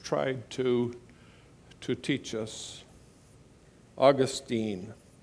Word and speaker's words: Augustine: to to teach us Augustine actually probably more properly pronounced Augustine but Augustine said something